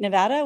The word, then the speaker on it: Nevada: Nevada which in Nevada anyone from Nevada mad at me because I just said it wrong no I did say it right I you say Nevada people get very mad um really they do but